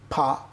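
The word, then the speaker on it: ف: গাইন খ বল দেখি গাইন খ বেশ মাশাল্লাহ গইন খ ফা ফা দর্শক একটু বলে রাখতে চাই অনেকে ফা উচ্চারণ করেন দুই ঠোট মিলিয়ে ফা না এভাবে করা যাবে না উপরের দাঁতের আগা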